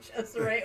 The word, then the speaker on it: Cesare: It's just how much image sells for musical artists, because when he gets his second artist, Cesare, which is spelled like Caesar, basically, but they pronounce it Cesare, which cracks me up.